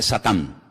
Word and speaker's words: Satán: En hebreo no se dice Satanás, se dice Satán, que significa adversario.